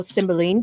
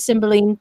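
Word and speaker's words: Cymbeline: series um i found out that um that symbol line or symboline depending on the uh or the variations of it depending on which part of the country you live in some pronounce it symboling which is more traditionally how it's pronounced but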